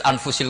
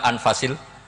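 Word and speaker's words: أنفس: Di sini ditulis anfusil kutub. Kalau saya baca anfasil kutub karena maknanya kitab terbaik. Kalau kitab terbaik bacanya bukan anfus tapi apa? Anfas.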